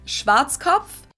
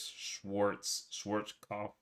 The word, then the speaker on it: Schwarzkopf: In German, we pronounce it Schwarzkopf. Never even heard of it, but if I were to read this, if I were to look at this, I would think it was Schwarzkopf.